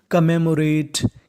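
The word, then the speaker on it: commemorate: और यहाँ पे M हमारा 2 बार लिखा है। और इंग्लिश का रूल ये होता है कि कोई भी लेटर यानी कोई भी अक्षर अगर 2 बार लिखा है तो उसका उच्चारण खाली 1 बार करना है।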